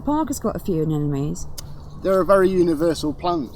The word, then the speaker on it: anemone: And is this plant in the middle the one that is difficult to pronounce? This is an anemone.